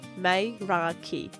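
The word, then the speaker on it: Meraki: It's called Maraki, pronounced mrai.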